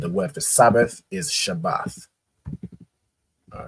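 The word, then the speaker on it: שבת: AA and a right so it's pronounced shabbath right shabbath not not um not Shabbat Shabbat in the Hebrew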